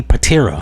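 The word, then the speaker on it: Pitera: You got Tommy um Tommy Karate Patiraa. I think I said his name wrong in another video, so I'm correcting it.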